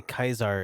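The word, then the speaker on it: Caesar: east i shall not i mean technically kaiser is how it's pronounced the strength of the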